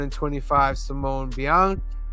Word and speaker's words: Bianchi: The 1 in 25 Simone Bianchi.